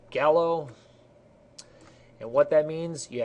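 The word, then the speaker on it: GALO: So we have G-A-L-O, I pronounce it gallo, and what that means, you have greater than, acute, less than, obtuse.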